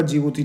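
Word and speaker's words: Djibouti: ये आपका जिबूती नज़र आ रहा है। देखिए जिबूती का स्पेलिंग डी से स्टार्ट है ना।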